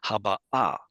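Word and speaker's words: הבאה: They put the accent on the wrong place, and it should have been haba'a. That makes a very good participle.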